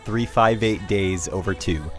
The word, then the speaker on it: 358/2 Days: and before we go on yes it's actually pronounced 358 days over two think about it 358 as I'll call it